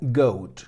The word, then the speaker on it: goat: La primera palabra, goat, que fijaos que se escribe con una A detrás de la O y se pronuncia goat, que es el sonido más común que nos encontramos en la O.